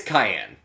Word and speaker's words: Cyan: I know it's spelled like a certain color, but it's Cyan.